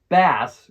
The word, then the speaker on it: bass: same kind of mouth this word bass rhymes with words like grass and gas okay on to number